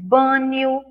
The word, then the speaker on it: banho: Aí a gente escreve banho com i, mas não tem i, é NH.